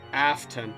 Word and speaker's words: Afton: His name is pronounced Afton.